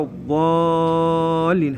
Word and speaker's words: الضالين: عليهم عليهم بالكسره ولا الضالين هذا حرف الضاد اللي هو يشبه حرف الصاد اكو بعض الاخطاء الشائعه ينطقوا ضاء اللي يشبه حرف الطاء ما نقول ولا الضالين طلع لسانه اللي قدام